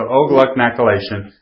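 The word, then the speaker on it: O-GlcNAcylation: And so O-gluconacylation, that's actually how it's pronounced.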